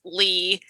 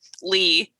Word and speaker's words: Leigh: But Leigh Bardugo, every time I read Lee, Leigh, I think it should be slay, like Sleigh. Well, you think it should be lay.